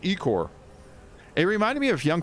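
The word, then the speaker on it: ichor: many like angry comments over that one it's pronounced eek or it reminded me of Young Frankenstein remember Young Frankenstein where he meets uh Igor he's like dr.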